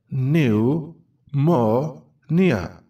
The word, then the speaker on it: Pneumonia: new more near b is silent new more near new now repeat